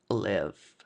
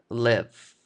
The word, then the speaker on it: live: También hay que tener muy en cuenta que esta palabra se pronuncia live, que es vivir, y no live. Okay, live es algo distinto. Live es como una transmisión en vivo.